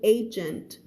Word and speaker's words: agent: simply a soldier ไม่ใช่แค่ทหารธรรมดานะจ๊ะ He is a special agent คำนี้ออกเสียงว่า agent ไม่ใช่เอเย่นภาษาบ้านเราเรียกเอเย่นใช่ไหมภาษาอังกฤษมันคือมาจากคำว่า agent ก็คือหน่วยตัวแทนหน่วยงานอะไรว่าไปมีความหมายเยอะทีนี้ he is a special agent ก็คือเขาไม่ใช่ทหารธรรมดานะเขาเป็นแบบหน่วยพิเศษเลยเด้อเขา trained in explosives ก็คือถูกฝึกมาหน่วยระเบิดว่างั้นเถอะVictor nodded and now Mr.